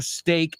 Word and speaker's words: steak: Y en ese caso, ambos son stake, S-T-A-K-E, no steak, S-T-E-A-K, aunque ya hemos visto ayer que se pronuncian exactamente igual.